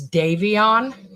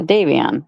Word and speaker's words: Davion: She could not pronounce his name right. It's Davion. Yeah, Davion. We have a Davion in our school.